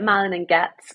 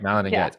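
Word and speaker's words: Malin+Goetz: don't know how you malan and goet is that how you pronounce it I mean the team call it Malin and gets so I'm running with that Mal and GS okay malan and GS I personally have a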